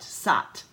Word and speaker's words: Sat: sight Sat I'm sorry SAT set rhymes with what what SOT what which means truth